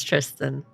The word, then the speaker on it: Tristan: Lucien, Tristan, Catherine, and you made us into a... First and foremost, how you pronounce Tristan. Totally French.